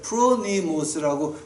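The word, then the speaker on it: φρονίμως: 근데 지혜 있게 한다는 말을 갖다가 이제 가지고 프로미모스 프로니모스라고 발음을 해.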